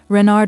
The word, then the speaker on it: Renard: Renard with the accent on the Ren.